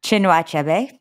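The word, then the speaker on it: Chinua Achebe: ellison another things fall apart bye can you pronounce this author's name for me chinuachebe thank you there's so many words and names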